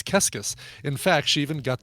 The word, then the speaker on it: Keskis: She loved Psycho Killer by the Talking Heads because the phrase qu'est-ce que c'est is pronounced similar to her last name, which was Keskis.